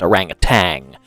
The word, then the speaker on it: orangutan: say orangutan in orangutan there's no G on the end of it everybody pronounces it orangutan because of the British accent have you ever been